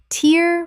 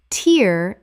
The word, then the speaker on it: tear: Tear from an eye. Tear rhymes with here. Tear as in ripping.